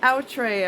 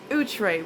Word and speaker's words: Outre: I used to say outre I've been saying outre for years years and years that's not the right pronunciation it's utre which is a French word o-u-t-r-e that's the name